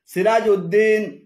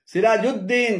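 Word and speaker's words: سراج الدين: একটি আলাদা শব্দ হিসেবে উদ্দিন লেখেন যেমন নুরুউদ্দিন, সিরাজউদ্দিন, শামসউদ্দিন, আলিমউদ্দিন এভাবে উদ্দিন বলে আরবিতে আলাদা কোন শব্দ নেই। এগুলো শুদ্ধ উচ্চারণ হল নুরুদ্দিন রুদ, নুরুদ্দিন সিরাজুদ্দিন, জিমদাল, সিরাজুদ্দিন, শামসুদ্দিন, আলিমুদ্দিন তবে দিয়াউদ্দিন উচ্চারণ সর।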